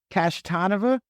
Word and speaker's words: Kashtanova: It is Chris Kashtanova. That's how it's pronounced.